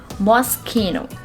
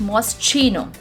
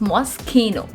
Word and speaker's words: Moschino: of this word is mosquino the sound of ch in this word is not pronounced as j it's not most chino the sound of ch